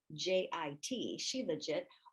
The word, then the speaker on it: shilajit: streams and legs now the term shilajit which is spelled j i s-h-i-l-j-i-t she legit it often comes up when you're searching for